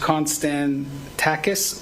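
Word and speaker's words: Konstantakis: We'll pronounce it first. Constan Tacis Law.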